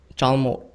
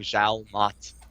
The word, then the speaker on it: Jalmot: Your ID is Jalmot, right? In Korean, yes. Yeah, I can type that. By the way, how do you pronounce it? Jalmot. Okay. Yeah. I've just been saying Zhao Mat and having like three